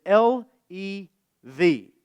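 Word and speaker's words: לב: The Hebrew word for heart, the one used by David, is L-E-V, lev. And it's pronounced a lot like a southerner describing a close encounter with a tornado.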